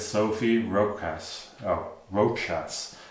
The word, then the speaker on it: Rochas: Oh, Rochas. It's a bit hard to pronounce.